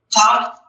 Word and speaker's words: kaf: Now the kaf is it's a bagat kafat letter, so if it's got the dot, it's the hard K sound. K, K. No dot, cha, cha, ch.